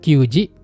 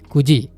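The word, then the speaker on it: 九時: Kalau untuk jam 09.00 itu bukan quji tapi kuji.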